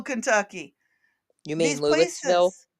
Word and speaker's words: Louisville: I just wanted to point out Oh, there's Lexington, Kentucky, and there's Louisville, Kentucky. You mean Louisville? It is Luville. The S is silent. Louisville.